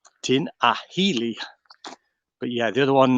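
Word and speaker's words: Tinahely: woods but yeah tina it's not spelt correctly but that's how you actually pronounce it tina healy tin ahili but yeah the other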